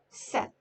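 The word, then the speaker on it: sept: in english sis sis set set p is silent in inside of the word and then t is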